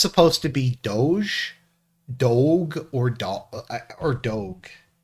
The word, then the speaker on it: DOGE: there so I know it's pronounced Doge probably like the uh the Venetian Duke but I kind of like saying dog uh let's see here